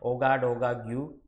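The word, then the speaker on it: Ouagadougou: सो Burkina Faso का जो capital है वो ये है ओगा डोगा ग्यू, ठीक है, उसको प्रोनाउंस किया जाता है।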